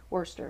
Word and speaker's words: Worcester: I learned years ago that's how they say it, Worcester, Massachusetts.